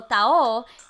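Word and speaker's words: taho: So tao is spelled T-A-H-O, and it is a sweet soy-based breakfast.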